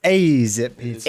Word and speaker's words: Azzip: And no, it's pronounced Azzip Pizza.